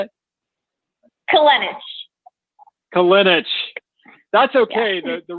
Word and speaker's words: Kolenich: And tonight we have Kolenich. Kolenich? I'll never learn. I'm useless. I'm sorry. Help me. How do you say it? Kolenich.